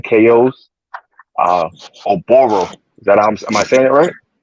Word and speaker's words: OBaro: This your guy, Undercard in Boxing, bringing to you guys today an interview exclusive with light heavyweight prospect 7-0, 7 KOs, uh, OBaro.